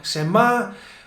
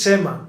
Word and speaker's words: se me ha: Sometimes, Luija, I hear people saying Sema. So the next one is Sema, amigos.